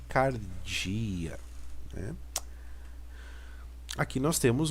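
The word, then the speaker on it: καρδία: a nossa letra errou esse P tem som de R Aqui nós temos a letra Delta de D então aqui Cardia Aqui nós temos o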